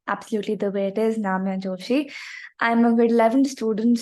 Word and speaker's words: Namya Joshi: So a bit about myself, like pronounce my name absolutely the way it is, Namya Joshi.